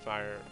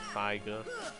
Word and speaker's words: Firaga: No, wait, it's always been Firaga. I always just used to pronounce it Figa, because I would just not think.